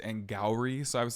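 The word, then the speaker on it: Angourie: name is avantica also the girl who plays caddy her name is not anger or whatever I said last week her name is angry so I was saying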